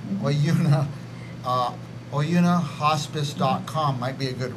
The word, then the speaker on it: Oyuna: By the way, that Oyuna, I'm saying it right. Is it? Oyuna. Oyuna. Yeah. Oyuna.